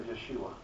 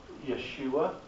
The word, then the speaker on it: Yeshua: His name would have been pronounced something to the effect of Yeshua.